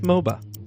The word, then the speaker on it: Mhoba: The French word for rum and Mhoba both have a silent H in them.